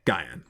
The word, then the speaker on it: Guyan: Guyan pronounced as saying the word Guy, then Anne, like the name Anne, Guyan.